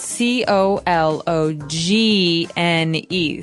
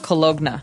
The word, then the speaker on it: cologne: It ends with uh it it's spelled c o l o g n e. So you don't really say the g. It's not cologna, right?